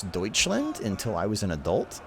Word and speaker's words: Deutschland: I also will tell you a very embarrassing story, which is I had never actually seen or heard someone pronounce Deutschland until I was an adult.